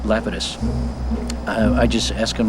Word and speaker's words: Lapidus: this yahoo hey lepidus they pronounce it uh lepidus but i think the correct greek uh is uh lapidus i i just ask